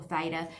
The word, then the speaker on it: theta: So alpha, beta, gamma, theta, or theta, as the Americans say.